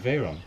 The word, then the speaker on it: Veyron: I think you pronounced it right, Archie, Veyron.